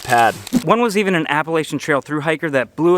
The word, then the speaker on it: Appalachian: And yes, it's Appalachian. I know I say it wrong. Little fun fact, Appalachian is actually the correct way to say it when you live in Ohio and don't give a shit.